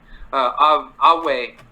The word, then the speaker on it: Ave: In Latin, the V is a W, kind of like in Ue. Ave Caesar is how it's supposed to be pronounced in actual Latin.